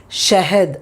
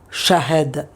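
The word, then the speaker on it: शहद: I have told in my videos many times, when a h comes, the previous word will sound like a. So it is shahed, but not shahed.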